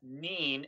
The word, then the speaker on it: Nien: So, Tim Murray says, "Why does everyone pronounce Nien Nub as Neen, N-E-E-N, instead of 9? George Lucas' silly naming conventions that 10 Nub exists. Isn't 9 more logical?"